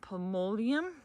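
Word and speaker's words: Polemonium: It's pronounced pomolium.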